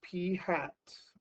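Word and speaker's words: p̂: is a statistic and we're going to use P hat that is how you pronounce this P hence with the caret up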